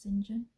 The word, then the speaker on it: St. John: Do you pronounce it singing? I remember doing Jire at school and St. John was actually pronounced singing for that book, but I don't know whether it still is.